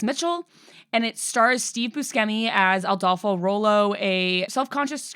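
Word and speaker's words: Buscemi: Do you say his name Steve Busi? I've never heard that. Yeah, that's how you say it. It feels like when people say Pisceti. No, it's Busi.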